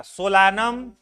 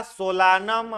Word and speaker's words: Solanum: उसके बाद है टमाटर का सोलानम, स्पेलिंग सोलानम होगा, सोलानम, SOLANUM, SOLANUM, सोलानम, ठीक है।